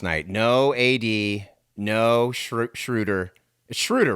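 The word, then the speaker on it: Schröder: no a.d no shrew schroeder schroeder right it's schrooter that's how you say it schroeder schroeder i don't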